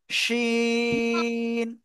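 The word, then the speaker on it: شين: আমরা শিন অক্ষরটা লিখলাম জিহ্বার মধ্যখান তার বারবার উপরে তালুর সাথে লাগাবো লাগিয়ে আমরা সাস করে শব্দ করে উচ্চারণ করব শিন শিন শিন জোরে জোরে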